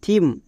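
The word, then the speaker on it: theme: থাকলে তার জন্য দবে এর ক্ষেত্রে কয়েকটি ব্যতিক্রম আছে যেমন টি এইচ ই ও আর Y theory T এইচ ই এম ই থিম এখানে টি এইচ এর ঠিক পরে ই আছে বাট এর জন্য দোয়া হচ্ছে না বিকজ এগুলো হচ্ছে ব্যতিক্রম এরকম আরো দুই একটি ব্যতিক্রম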